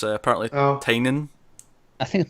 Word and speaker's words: Tynion: Well, I'd probably be more excited for Tinian at this point, although we learned today apparently we're pronouncing Tinian wrong. It's apparently Tynion.